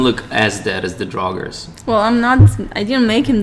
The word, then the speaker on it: Draugrs: Oh, Draugrs.